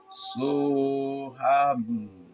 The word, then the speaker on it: Soham: Soham.